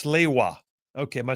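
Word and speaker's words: Sliwa: Uh, Stephen from Athens says, "By the way, Phil, it's Slaywa." Okay. Am I saying it wrong? Curtis Siwa.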